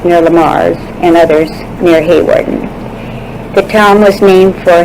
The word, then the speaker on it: Hawarden: He lived in Hawarden, England, pronounced Harden in England.